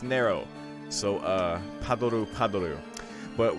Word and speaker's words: Nero: know how to pronounce that name apparently it's pronounced narrow so uh Pablo Pablo but what I was